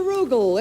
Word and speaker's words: Rugal: Mr. Rugal, it rhymes with bugle.